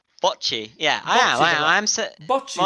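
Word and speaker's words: Bocchi: bot The Rock d bchi yeah I am I am okay that that o i argue is yes apparently it is close to the O of Japanese Boi Boi the rocku guess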